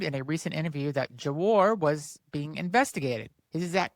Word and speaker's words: Gwar: Gwar is a heavy metal band from Richmond, Virginia. Just in case I mispronounced, it's G W A R.